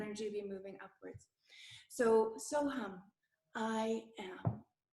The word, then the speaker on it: So Hum: So hum, and I would like to touch on how to say it. We actually want, instead of it ending on the lips, so hum, we want to sort of bring the sound upwards through the palate.